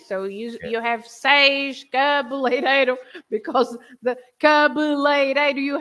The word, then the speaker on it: seis: The sound is always A. And for example, you have a very simple word with the A, which is seis, the number 6. It's the same sound, right? Seis, good.